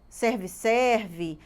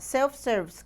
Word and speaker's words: self-service: que tem muita gente que fala errado né serve serve mas o correto é falar self-service claro que a gente não vai falar com